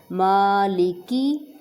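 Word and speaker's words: مالك: الرحیم، الرحمن الرحیم، مالکی، ماں کو تھوڑا سا کھینچیں گے میم کو سٹینڈنگ زبر کی وجہ سے، مالکی یوم الدین، مالکی یوم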